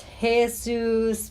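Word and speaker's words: Jesús: Jesus PG o PT o how would you pronounce that and you're Devon Powell versus hey-zeus pine know Pineview panadol no no where's he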